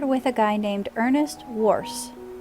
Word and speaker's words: Woerz: guy named Ernest Wars I had to go look up how to pronounce this name because I want to call him warts but I went and checked and it says to call him Wars so I'm gonna try